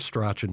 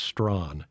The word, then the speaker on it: Strachan: He says, it's not Strachan, it's Strawn.